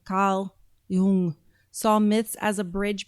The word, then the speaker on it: Jung: So Carl Jung, that's how you say it in German, Carl Jung, saw myths as a